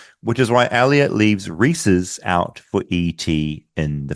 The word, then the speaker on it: Reese's: I'm not sure if this is a regional thing, but I grew up in Boston, and everyone I knew always pronounced it as Reese's. R-E-E like dash S-E-E-S, Reese's.